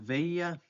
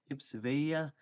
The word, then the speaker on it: veía: So for ver, we have veía, veía, with accent on the I, veías.